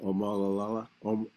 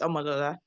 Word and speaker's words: Amodola: last last question um laala laola sorry you can unmute uh it's fine people always get my name wrong um It's Amodola.